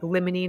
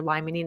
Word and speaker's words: limonene: For example, we have dammonine which might boost or lemonine or lmonine. It's the same thing depending on how you pronounce it.